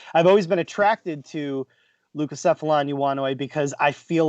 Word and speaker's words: Leucocephalon: So I chose the Leucocephalon iguana, Chris. Ooh, nice pronunciation.